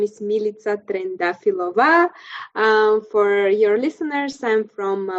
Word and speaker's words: Trendafilova: to meet you yes my name is milita trendafilova for your listeners i'm from bulgaria country in